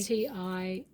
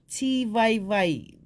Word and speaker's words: tivaevae: With I prefer Tivaevae, the VAI, but it doesn't stop them saying what they like. But for example, Catherine, because mum's a papa, it's how they say it. So how they like it. And with the F, we don't have a F, but that's the Tahitian way. pronouncing of the Tivaevae.